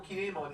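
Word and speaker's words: Kin'emon: video i mentioned that the entire motivation for kinemon in that arc was to rescue hey let's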